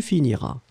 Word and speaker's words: finiras: première personne deuxième personne tu finiras à esse esse final pas prononcé ça c'est clair je finirai tu finiras et puis l île